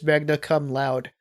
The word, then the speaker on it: Magna Cum Laude: I'm pretty sure I that's probably I believe the way you're pronouncing it is the proper pronunciation, but I think the way it's supposed to be pronounced for the sake of a Larry title was Magna Cum Loud.